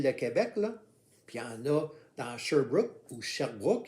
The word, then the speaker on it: Sherbrooke: dans sherbrooke ou sherbrooke y en a qui préfèrent dire sherbrooke mais en fait c'est sherbrooke parce que le nom vient d'un lord anglais britannique donc ça se dit qu'avec de la façon le prononcé de la façon anglais y sont dispo de